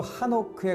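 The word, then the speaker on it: חנוך: 에녹이란 이름은 히브리어로 하노크에 가깝게 발음내는데요.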